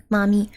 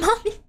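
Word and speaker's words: Mamee: I'm talking about the M-A-M-E-E noodles. They just happen to be spelled like Mommy. Can you guys stop spelling it like that? It's not Mommy.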